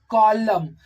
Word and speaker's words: column: in the combination of this n will be silent but n is n